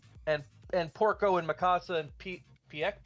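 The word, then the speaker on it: Pieck: And it was like, hey, we spent all our time working on Armin and Annie and Aaron and Porco and Mikasa and Peak.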